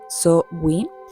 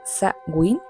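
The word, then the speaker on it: Samhain: El primero es Shamain, que se puede pronunciar de otras formas. Una de ellas es So-Win, la otra es Sa-Win y la otra que seguramente te es muy familiar, que es el Halloween.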